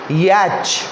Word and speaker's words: yacht: इसको पढ़ेंगे याच, च का प्रोनाउंसिएशन होगा लास्ट में, छ वाला च होता है ना, याच।